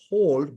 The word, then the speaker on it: HODL: They still call it hold, but they spell it as HODL.